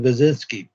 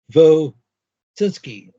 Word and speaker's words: Wojcicki: I haven't got to the death of Susan Wojcicki. What? But Who is this? how do I pronounce her name? Susan Wojcicki.